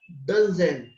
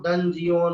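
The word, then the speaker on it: dungeon: कहते हैं उसे डंजन, इसका उच्चारण सुन लेना, डंजन। डंजन, इसको डंजियन वगैरह ऐसा कुछ मत पढ़ना, ये है डंजन, डंजन।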